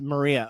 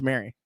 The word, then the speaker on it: Maria: See I've been saying your name wrong the whole time. Maria. Well, now that I know Maria, I will call you Maria. It's just I see Mary Duda, so I think it's Mary.